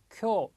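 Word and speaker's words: きょう: 두 번째 쿄. 자, 발음이 좀 기네요. 앞에가 자, 쿄.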